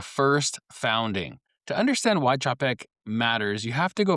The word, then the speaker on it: Czapek: It starts it's it's spelled c z a p e k and the c z is Polish as in ch like in church. So, it's Czap and then ek. It's not Zaypec, it's not Sapec, it's not Chapec, it's Czap ek.